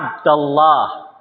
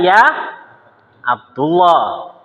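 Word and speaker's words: يا عبدَ الله: dibaca jadi fat ha maka ketika Abdullah kemasukkan ya maka Bacanya apa ya ya abdallah bukan Ya Abdullah Ya abdallah sudah nih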